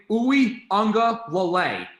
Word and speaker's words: Uiagalelei: Uiagalelei.